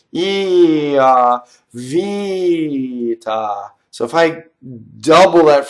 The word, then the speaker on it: vita: So here's a good example of a single T that I hear as a double. So vita. So how do I make a double T versus single T?